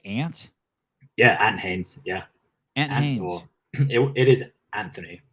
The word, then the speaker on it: Ant Haynes: is legit that is legit um am I pronouncing your name right ant yeah ant Haynes yeah an it is Anthony but yeah oh